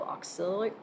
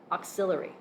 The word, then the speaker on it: auxiliary: just as part of the missingness aspect called oxil auxiliary variables I cannot say that word to save my life or spell it auxiliary how's that auxiliary judges ruling no there's an